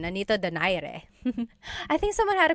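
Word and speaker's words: Nonito Donaire: So, our first poll here is going to be Mani Pacquiao versus Nonito Daire or is in in the Tagalog uh pronunciation. Nonito Dire.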